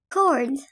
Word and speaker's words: record: Record. Record تعني يسجل. وإن كانت noun أي اسم فهي تعني رقم قياسي وتلفظ record.